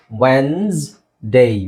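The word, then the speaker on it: Wednesday: ಅನ್ಲಿಕ್ಕೆ ಇಂಗ್ಲಿಷ್ ಅಲ್ಲಿ ನಾವು ತುಂಬಾ ಜನ ವೆಡ್ನೆಸ್ ಡೇ ಅಂತ ಹೇಳ್ತೀವಿ ಅಥವಾ ವೆಡನೆಸ್ಡೇ ಅಂತ ಹೇಳ್ತೀವಿ ಎರಡು ತಪ್ಪು ಓಕೆ ನೀವು ಏನು ಹೇಳಬೇಕು ಇಲ್ಲಿ ಡಿ ಸೈಲೆಂಟ್ ಆಗಿರುತ್ತೆ ಇ ಸೈಲೆಂಟ್ ಆಗಿರುತ್ತೆ ಎಸ್ ೆಡ್ ಆಗುತ್ತೆ ಓಕೆ ಅವಾಗ ಏನಾಗುತ್ತೆ ವೆನ್ಸ್ ಡೇ ವೆನ್ಸ್ಡೇ ನೋಡಿ ಇಲ್ಲಿ ವೆನ್ಸ್ಡೇ ವೆನ್ಸ್ಡೇ ಓಕೆ ನೆಕ್ಸ್ಟ್ ತರಕಾರಿ ಅನ್ಲಿಕ್ಕೆ ತರಕಾರಿ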